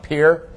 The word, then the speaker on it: Pierre: It looks like Pierre Shale. Don't pronounce it that way. It's pronounced Pierre.